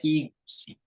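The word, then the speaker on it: 이것이: Karena siit yang tadinya menjadi bacim, ya, nah, ya. Karena yang tadinya kan siitnya kan jadi bacim. Bacim itu adalah huruf mati. Nah, semua konsonan jika ketemu dengan nol, maka ke yang tadinya huruf mati kembali hidup. Jadinya dibacanya S, jadinya igusi.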